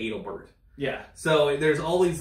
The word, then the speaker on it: Adelbert: and stuff too um the Civ War General adelbert adelbert instead of or adelbert names no it's adelbert names and if you're from Maine that makes perfect sense but if you're a historian reading a book or you know in a documentary you're going to say Adalbert yeah so there's all